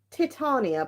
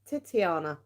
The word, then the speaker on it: Titania: laughing at me because I've been pronouncing these totally the wrong way so they're actually uh Titania's Fortune cards Titania but I've been calling her what was I calling her titiana titiana I was calling her titia titiania a Titania